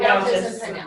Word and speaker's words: Fountas: Typically K-8, I don't think it's Fountain is F-O-U-N-T, Fountain, how do you pronounce it? Fountas.